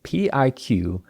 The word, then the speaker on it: Pique: That's Pique. And though that's not the way you might think Pique is spelled, nothing about this tea is what you might think.